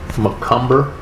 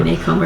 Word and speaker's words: Macomber: But she's done a fair amount of research, and we have identified Macomber, if I'm saying it right, Communications. Maycomber. Okay, Yeah, Maycomber.